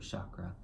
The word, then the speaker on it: chakra: ties in also to your root chakra or chakra excuse me I don't know why obvious I'm